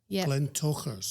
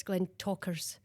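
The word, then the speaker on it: Glentauchers: Glen Ters because of the ch. So, I was having a we look into this one and it's Glen Talkers. And that's when you think, gosh, how difficult can they make this? We're ch and and then we're turning the ch into a K.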